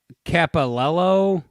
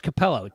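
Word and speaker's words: Cappello: you say his name the sex guy uh capilello capello oh it's capello tim capello uh if you've never seen this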